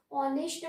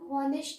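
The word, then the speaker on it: honest: यहाँ पर H silent है, इसीलिए हम ऑनेस्ट बोलते हैं, हम हॉनेस्ट नहीं बोलते।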